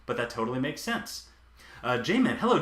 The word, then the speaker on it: Jamin: done that before but that totally makes sense Jamin hello Jamin thanks for joining in uh-huh Josh's dulcet tones in the background while I work to relax me and I'll be speaking your name Jamin did I know how to pronounce now after